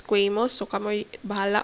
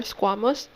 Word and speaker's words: squamous: have simple squamous or some would pronounce this as cuemo bala but for me i would prefer squamous simple squamous epithelium we